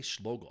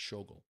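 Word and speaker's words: Schogol: According to Nicholas Seitan and uh Jeff uh Schog I always mess I always say Schluggle. I always thought it was Schluggle, but I keep messing up his name, his pronunciation, and it's Shogle.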